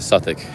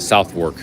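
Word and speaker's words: Southwark: that's what he said suic he pronounced it suic I pronounced it southw oh yeah I think this is the the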